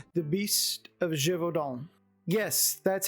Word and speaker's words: Gévaudan: I know it's hard to believe, but that's how you say it. Gévaudan. Not Gévaudan, not Gévaudan, or whatever else some of y'all have been saying here when I've watched some of these videos talking about this film. It's Gévaudan.